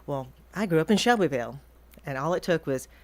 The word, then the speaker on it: Shelbyville: But I grew up in Shelbyville, or Chevel if you're from there and can mispronounce it.